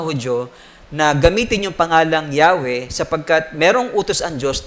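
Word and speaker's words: Yahweh: ay ginamit para sa pangalan ng Diyos na yahwe o naman yung tamang pronunciation non okay Kaya sa bible natin Instead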